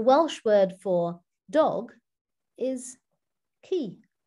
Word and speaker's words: ci: you that the welsh word for dog is key pronounced key and that's an example of how that